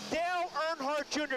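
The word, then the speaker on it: Dale Earnhardt Jr.: you're going to hear a lot from him Dale nhart Jr did I pronounce that right yes you did good job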